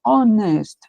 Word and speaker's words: honest: Depois, honest. Honest. Esse H é mudo. O primeiro som que nós temos é som de uma vogal.